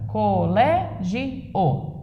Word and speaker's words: colégio: Colé, o lé tem acento.